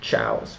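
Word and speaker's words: Zhao: on Western and the two Chows which is z ha o um well s to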